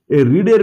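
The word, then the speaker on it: read: have হলো এরপরে ভিথ্রি রিডের ভিথ্রি হচ্ছে স্পেলিং ট্যাগ কিন্তু প্রোনাউন্সিয়েশনটা রেড তাহলে দে হ্যাভ রেড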